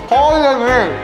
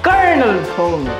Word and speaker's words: colonel: Ko-yo-nil. Isa ba? Ko-yo-nil. Madiri! Isa ba? Ko-yo-nil. Hoy, congratulations, nanalo ka ng wala. Hoy, ang tamang basa niyan, Colonel.